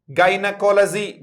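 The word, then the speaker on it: gynaecology: बताओ जरा, फिर से बोलो, वर्ड क्या है, जाई नहीं है, गाइनकोलॉजी।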